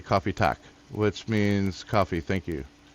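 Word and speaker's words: kaffe: So coffee is pronounced the same. It's still coffee, but we spell it different.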